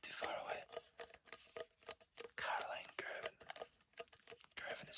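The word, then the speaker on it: Girvan: Caroline Gervin. Gervin is spelled G-I-R-V-A-N.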